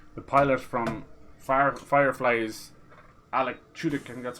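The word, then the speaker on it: Alan Tudyk: gotta be careful the pilot from fire fireflies Alec shooting that's how you say his name he's [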